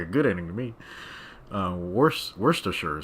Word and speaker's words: Worcestershire: Worcestershire sauce. Though Americans say the sure wrong.